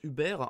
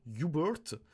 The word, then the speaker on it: Hubert: compte que par exemple le prénom hubert qui en français se prononcent hubert en anglais parce que ça va se prononcer un peu comme your bird et du coup comme tu l'entends hubert your bird s'est pas du tout la même prononciation donc le mot va